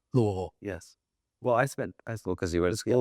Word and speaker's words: Louisville: I love how you pronounced it correctly. Louisville.